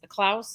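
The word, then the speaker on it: Kloots: Klaus is how you say it.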